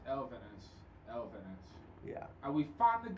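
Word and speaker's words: Elvenes: It's Elvinus. Elvinus. Yeah. And we finally got the correct pronunciation of it.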